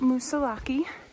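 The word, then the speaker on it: Moosilauke: all right hi I'm currently going up Mount musaki or musak I've heard both and apparently both are correct because nobody knows the real pronunciation um yeah and this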